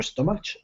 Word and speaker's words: stomach: a the a your stomach yeah stomach stomach yeah CH here in stomach is a k sound tricky C stomach y